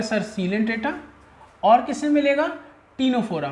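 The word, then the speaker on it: Ctenophora: टीनोफोरा। मैं आपको बता चुका हूँ सी साइलेंट है। सीलेंट्रेटा और टीनोफोरा ये दो फाइलम है।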